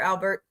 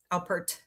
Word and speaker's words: Alpert: Albert. Alpert, sorry.